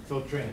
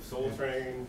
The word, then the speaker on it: Soltren: Did I pronounce the last name right? Soltren. Soltren. Oh, okay. Almost like John, right? Soltren.